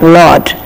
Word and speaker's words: Lord: no R over here whenever R is followed by any consonant R is silent it is not to be pronounce we read it like Lord ready and then window